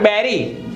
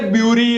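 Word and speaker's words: bury: नॉट गटार but guitar not building building not बैरी दफन करो य डोंट से ब्यूरी और ब्यूरी इट इ बेरी नॉट गड बट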